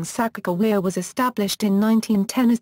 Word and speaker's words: Sacagawea: Sacagawea Sacagawea /səˌkɑːɡəˈwiːə/ is the most widely used spelling of her name, and is pronounced with a hard "g" sound, rather than a soft "g" or "j" sound.